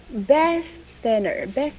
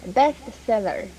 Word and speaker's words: bestseller: Bestseller. Bestseller. Enunciate more on the L. Seller. Bestseller.